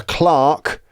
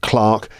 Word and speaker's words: clerk: UK it's mobile phone a Clark uh c r k like someone who works in a bank a bank clerk in America clerk uh we had root and